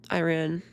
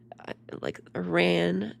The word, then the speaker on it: Iran: They're like Iran, not Ron. like it's always an A sound, not an ah sound. Like all the normal languages and countries say ah when it's the letter ah. But Americans say A. Everything is A.